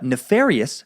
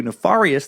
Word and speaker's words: nefarious: It was nice to hear nefarious pronounced correctly, as opposed to nefarious the way I've been saying it for years.